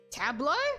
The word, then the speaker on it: tableau: Tableau.